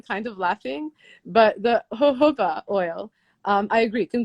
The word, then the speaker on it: jojoba: i was laughing at how i used to pronounce it jojoba oil not knowing it was a spanish plant and i was like and then i got like a minute it's not jojoba it's jojoba i was reading how